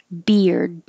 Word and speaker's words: beard: the same meaning 34 beard you're not going to hear the d at the end unless there's a word after it that starts with a vowel like i like that beard on him beer dawn but if it was at the end of the sentence you wouldn't hear it at all i like his beard